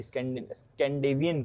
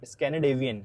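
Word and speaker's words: Scandinavian: basically जो यह northern countries हैं सारी स्कडेवियन कंट्रीज ठीक है मेो आज तक प्रोनाउंस नहीं किया गया भाई ठीक से ठीक है स्कनेडेवियन स्कनेडेवियन होता है हां तो स्कनेडेवियन कंट्रीज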